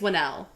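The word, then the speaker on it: Whannell: Because I think I said it wrong in My Invisible Man. Winnell. I think it's Winnell. Lee Winnell. I think that's right.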